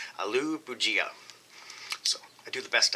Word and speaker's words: Aloo Bhujia: this is aloo pujia i had to google that to find out how to pronounce that but there was 23 upvotes and zero down votes on the way that i said it aloo boujia so i do the